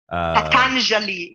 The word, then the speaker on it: Patanjali: I can't pronounce that last one. Patanjali, yeah, Patanjali.